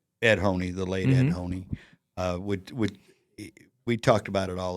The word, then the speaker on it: Honea: I was saying Honea. Yeah, a lot of people did. Yeah. People on TV. Yeah.